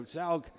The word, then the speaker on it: Zaug: Adrian's from Switzerland with a South African mother, and so Salg is the way his name is pronounced, and he's very, very quick.